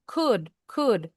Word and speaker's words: could: L-nya silent. Could could. Jadi O-nya juga hilang bunyinya.